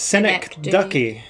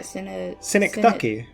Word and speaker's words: synecdoche: How do I pronounce this? Synecdoche. Yeah, Synecdoche. Synecdoche.